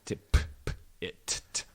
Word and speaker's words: Tippett: Very phonetically spelled. Tip-it.